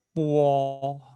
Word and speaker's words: po: Ya, nah, kalau po, mo, fo itu memang kalau ditambah huruf o di sini. Ya, tambah huruf o itu seakan-akan di bacanya itu ada huruf u-nya. Seperti ini. Nah, tuliskan. Puo, bacanya puo.